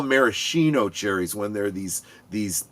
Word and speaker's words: maraschino: You got to say it like you're drunk already. Marishino.